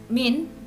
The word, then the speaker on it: mean: Ukuran pemusatan data tadi ada 3, min, yang tulisannya mean tapi bacanya min, median, dan modus.